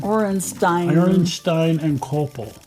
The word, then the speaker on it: Orenstein and Koppel: The LGB, or how's that pronounced again? Orenstein and Koppel.